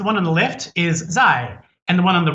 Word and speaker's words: 在: those two characters for chinese online which is pronounced zai now they literally read the word say and